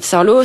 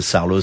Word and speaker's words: Saarloos: CTIN ou chienlou charlos Bretagne Sarlos ça s'écrit S2A r l 2o s vous faites beaucoup d'expos